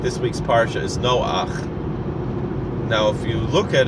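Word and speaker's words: נֹחַ: look at it now generally in Hebrew the vowel that's underneath is pronounced after the consonant that it's on top of so following that general rule it would be no ha right you would read it no car we don't read it as no far we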